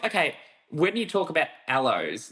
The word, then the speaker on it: aloe: You know, it's like okay, when you talk about aloes, like I used to say alloys, but then people go, no, it's aloe like aloe vera, and Okay, then that